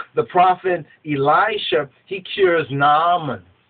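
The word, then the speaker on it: Naaman: prophet Elisha he cures namon namon or or you might pronounce as nonon the commander of the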